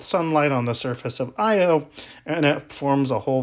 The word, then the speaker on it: Io: So, the innermost moon of the four Galilean moons, so this is the innermost moon, is named Io. Sometimes it's pronounced Io.